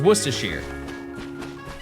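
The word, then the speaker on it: Worcestershire: Well, worcershir is fine. That's that's Yeah. If anything, I know how to say that better than anybody. It's worshere potato and route.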